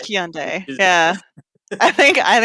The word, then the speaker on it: Hyundai: They say Hyundai, and we say Hyundai. Hyundai.